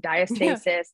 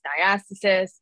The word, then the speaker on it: diastasis: with that um and people pronounce it differently and they're all fine diastasis diastasis uh sometimes we just make